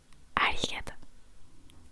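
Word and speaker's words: ありがとう: Si tu veux dire merci, c'est arigato.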